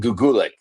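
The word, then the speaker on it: Goetgeluk: Yeah, Jan Guulik. Uh, he said to pronounce it like good luck. It's Belgian.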